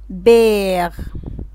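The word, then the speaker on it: père: عندما توضع على اللتر الاو بتحول النطق بتاعه، تطيل نطق الحرف، زي كلمة بير، بير يعني اب، مير، مير يعني ام، تغي، تغي يعني جدا.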